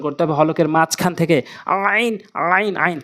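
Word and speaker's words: عين: এই আইন সবচেয়ে বেশি ভুল হয় আমাদের, হা এবং আইন, এটি হচ্ছে সেই আইন হলকের মাঝখান থেকে।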